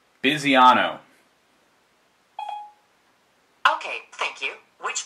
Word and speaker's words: Bisiano: Okay, how do you pronounce the name? Bisiano.